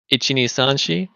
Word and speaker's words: Ichi: it's everyone should go tell me if if my uh pronunciation is correct Ichi yeah yeah Q what what did I say she one two three 4 but when you do the first bit um say The Itchy faster don't go itchy KN do